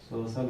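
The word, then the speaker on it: social: अब आप इसमें देख रहे हैं सी के बाद IA आया हुआ है ना, सोशल हो गया।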